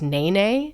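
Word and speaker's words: nēnē: The state bird, it's spelled ne, but it's pronounced na na, which is already making me think of certain things.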